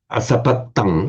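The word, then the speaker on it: asapattaṃ: Asapatang, with a distinct double T.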